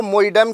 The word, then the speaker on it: Moidam: भी जाना जाता है कुछ लोग इसका जो उच्चारण है वह मोइड म के नाम से भी करते हैं अगर इसकी संरचना की